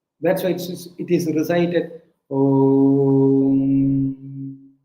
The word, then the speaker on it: Om: Om is a representation of technically 4 digits, 4 syllables, but people know only 3 syllables. A, U, M. That's why it is recited Om.